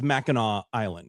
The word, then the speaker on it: Mackinac Island: It's spelled with a C, but it's pronounced with a W. Is that what it is? It's Mackinac Island.